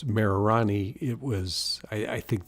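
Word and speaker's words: Mererani: And I think although it's Marani, it was I I think the way they pronounce things, people took it as Marilani. Uh when the Tanzanians pronounce Marani, it sounds more like Marilani and therefore we came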